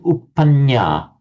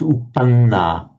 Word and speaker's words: uppanna: So I noticed that you were saying uppanya. It's uppanna. It's not a nya, it's a na.